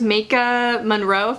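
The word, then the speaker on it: Maika Monroe: but it has its elements it actually stars maka monroe that's how you pronounce her name from it follows and a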